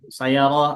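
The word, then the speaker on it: سيارة: Ahsan Pak Eka ini Sayarah Pak bacanya sayarah Avanza, Alpard Lamborghini.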